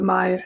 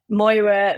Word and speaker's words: Mair: I get called me, Moira, Maria, all sorts.